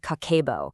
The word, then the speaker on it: Kakeibo: It's called Kako, pronounced kako, and it's a Japanese method that's over a 100red years old.